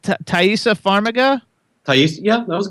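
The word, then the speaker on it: Taissa: pronounce all the names, but how do you pronounce Thaisa Farmiga?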